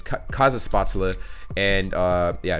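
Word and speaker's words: Kaiserschmarrn: is kaiza spots Allah now I finally know how to say this name it's cause of spots Allah and uh yeah it's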